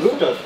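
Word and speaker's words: router: क्या बोलते हैं रूटर, हम इसको रूटर बोलते हैं, कोई वाला इसको राउटर बोलते हैं, राउटर या रूटर, हम तो रूटर ही अपनी लैंग्वेज बोलते हैं। वैसे राउटर होता है इसका सही स्पेलिंग, मैं समझता हूं।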